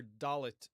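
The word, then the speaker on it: dalet: exile, it would seem, the Hebrew letter dallet was always pronounced as a D, like in the word door. Okay.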